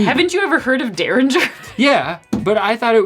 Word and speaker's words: Derringer: Rabbit Hole Dereringer. Dereringer. Dereringer? Yeah. Dereringer. Well, why is there an extra E? Haven't you ever heard of Derringer?